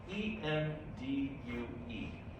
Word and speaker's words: endue: So the choice is endu or endu.